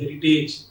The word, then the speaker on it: heritage: Often we pronounce these two terms like courage and heritage.